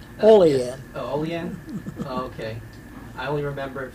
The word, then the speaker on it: Olean: correctly uh from molly new york you don't pronounce that correctly olean okay i only remember it from the k